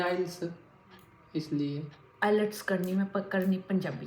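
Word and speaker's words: IELTS: नहीं इतना परफेक्ट नहीं पढ़ा, पर आइल्स है ना। आइल्स टी साइलेंट है। कोई बोलते हैं आइलेट्स कर रहे हैं।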